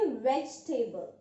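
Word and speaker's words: vegetable: Here this E V have to ignore, हम इस ई को प्रोनाउंस नहीं करने वाले हैं, हम बोलेंगे वेजिटेबल, जिसका मतलब आप सभी को पता है सब्जियां होता है।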